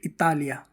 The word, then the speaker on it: Italia: यदि आई के बाद कोई व्यंजन आता है तो आई का उच्चारण क्या होता है? इ होता है। जैसे इटालिया। इटली को क्या बोलते हैं? इटालिया। इदया। इदया यानी विचार। आइडिया। आइडिया होता है उसको बोलते हैं इदया।